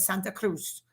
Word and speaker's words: Santa Cruz: Cruz okay and that's how you say it Santa Cruz s a n t a c r u